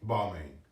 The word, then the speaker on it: Balmain: Balmain. Did I say it right? Yeah, Balmain.